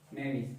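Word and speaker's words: knavish: अगला वर्ड है नेविस। कौन सा वर्ड है, नेविस। के साइलेंट है, ध्यान रखेंगे।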